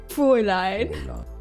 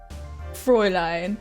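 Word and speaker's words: Fräulein: Now the German pronunciation is as fine. Frey line. So this gu is just going to keep showing up. Frey line.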